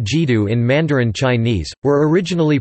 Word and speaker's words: 基督: Quote, the two characters now pronounced Jidu in Mandarin Chinese were originally pronounced Jidu, Jidu in Cantonese as representation of Latin Christus.